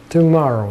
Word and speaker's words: tomorrow: Tomorrow. На втором слоге ударение. Tomorrow. Mo. Вот это mo ударное.